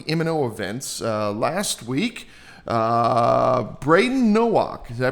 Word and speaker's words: Brayden Nowak: Uh Braden Nowak. Did I pronounce that correctly?